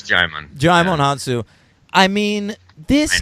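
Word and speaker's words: Djimon: Yeah, it's Jimon.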